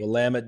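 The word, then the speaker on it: Willamette: and some of the hiking and waterfalls and Wamut Valley wine country, right? You got to pronounce that correctly. Wamit.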